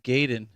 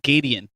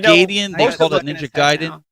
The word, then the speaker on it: Gaiden: oh you got Ninja Gaiden the most like what we had kids in grade school used to call it Ninja gaidian anybody in the chat